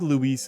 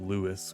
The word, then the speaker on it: Luis: This was built by Luis, which I think Luis is the correct way to say it, but on stream I said Lewis, which I cringed at when I made the video.